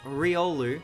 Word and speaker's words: Riolu: It's Riolu.